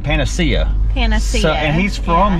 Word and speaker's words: Panacea: might as well hear how we think it's pronounced. Also, I say it was Panacea, and the guy in this building right here said Panacea.